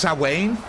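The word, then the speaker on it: Samhain: It's pronounced Sawain. Sawain. Oh, okay.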